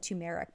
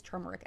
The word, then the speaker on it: turmeric: I always said tu-mair-ic someone said I said it wrong so I think it's turmeric extract which might be an